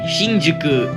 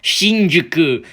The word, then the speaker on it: Shinjuku: our hotel located in Shinjuku Tokyo I just want to make this clear it's pronounced Shinjuku if I hear anybody name it Shinjuku or anything along the lines of that I will personally hunt